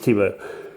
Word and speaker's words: Tibo: You got the Tops logo here, and here is Tops Tibo, and it is pronounced Tibo.